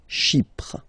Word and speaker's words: Chypre: So remember, we've got this Y letter here, but then phonetically, when you pronounce it, it's like I, okay? Chi, Chypre, okay?